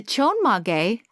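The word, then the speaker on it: chonmage: way back then and still today okay the chon mage is how it's pronounced is inspired by a samurai hairstyle of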